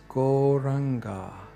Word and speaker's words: Gauranga: So without further ado, we are going to chant one of those beautiful mantras, and that's Gauranga, meaning the golden ocean of spiritual love. It's got 4 syllables, Go-Ra-Anga.